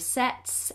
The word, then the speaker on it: sets: Sometimes the sun sets, and the S on the end of sets is an S sound, not a Z, sets so subtly.